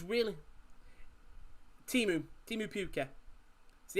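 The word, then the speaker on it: Pukki: it's really teemu timu puke see how deep i think it's just an accent thing the way i pronounced it was it pookie p-u-k-k-i i think it's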